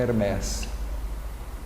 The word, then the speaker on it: Hermés: Então não é Hermes, Hermes é a pronúncia inglesa, né? A pronúncia correta é Hermés.